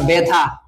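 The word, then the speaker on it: ব্যথা: আছে যেমন ধরো আমরা বেথা ওই যা আছে তাই বে আকারে থা ঠিক আছে জফা যদি শব্দের আদিতে থাকে তাহলে ওটা এ ক্লান্ত হয় এ কার উচ্চারণ হয় এ এর মত ঠিক আছে যেমন ব্যতীত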